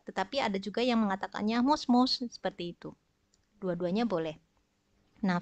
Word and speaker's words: moshi-moshi: Seperti itu ya, hurufnya ada bunyi shi di belakang, tetapi diucapkannya yosh. Selain itu, kalau di telepon, mungkin juga minasan pernah mendengar orang mengatakan mos-mos, seperti itu ya.